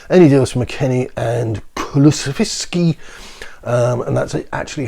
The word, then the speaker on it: Kulusevski: Any deals from McKennie and Kulusevski. and that's actually how it's pronounced, will have to be permanent.